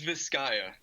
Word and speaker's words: Viscaya: your band is uh how do you pronounce that officially it's viscaya a lot of people